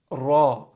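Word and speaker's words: راء: Ra. Ra is similar to the word R. Right? With R, the tongue curves up a little more.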